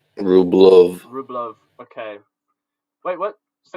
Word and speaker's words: Rublev: Then Rublev in Russian is more like Rublov.